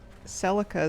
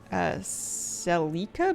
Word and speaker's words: Celica: Toyota's Celica is pronounced Celica, but in the US we say Celica.